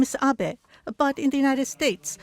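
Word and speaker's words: 安倍: over to the White House my name is Abbe but in the United States some people mistakenly pronounce my name as ape but that is not bad because even in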